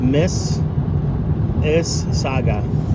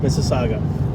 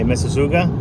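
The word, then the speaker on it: Mississauga: oh it's it's pronounced Miss is Saga Miss Saga just let you know what did I say muga I was pronouncing the U why don't they just drop the U so we won't be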